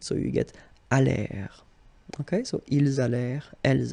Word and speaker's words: allèrent: And then this ENT at the end, you know, the mark for the plural, well, clearly you don't pronounce it. So you get allèrent.